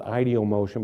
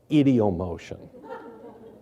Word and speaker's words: ideomotion: I understand that elsewhere in the world they might call it ideomotion, but I pronounce it as you would in Ohio, idiomotion.